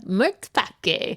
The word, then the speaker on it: matpakke: called the Mørtpakke. Mørtpakke? Mørtpakke. Oh. It's spelled Matpakke.